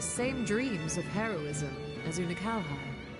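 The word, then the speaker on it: Unei: dreams of heroism as unai unhigh okay that's how you say his name okay I can remember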